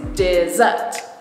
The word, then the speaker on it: dessert: I think what you want to say is, dessert is my favorite thing. Now that I can understand. Dessert is a 2-syllable word with the stress on the 2nd syllable. You can do it like this, dessert.